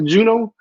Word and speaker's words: Juneau: had they had no previous history of allergies, had stabilized with treatment, but was kept in the how do you pronounce that city in Alaska? Juneau.